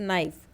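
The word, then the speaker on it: knife: for example in words नाइफ के जो है knowledge and know the first letter के इज़ not pronounced let अस टूक एज अ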